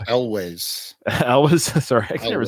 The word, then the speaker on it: Elwes: thing to say that Carrie Ewells is how you say his last name, Owls or Ewells? Elwes.